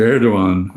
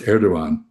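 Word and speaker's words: Erdoğan: Um, when you pronounce Erdogan, that G with a little mark on top of it is all that remains of Arabic script in the Latin Latinized Turkish script.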